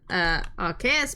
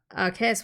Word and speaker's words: Arceus: I remember reading the romanization of the Japanese name for Arceus once, and it was Arusius. A rooster. I find it more fitting to pronounce it with K because arc. Ah, that makes sense.